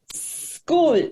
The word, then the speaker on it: school: pronunciar esta palabra porque empieza con ese y después una ch esa s no hay una vocal antes entonces siempre decimos school y la pronunciación correcta es school de pronunciar esa s